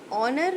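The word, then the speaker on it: honour: ऑनर में हम लोग एज को प्रोनाउंस नहीं करते, ओ को प्रोनाउंस करते हैं, इसीलिए इसके स्टार्टिंग में एन आएगा.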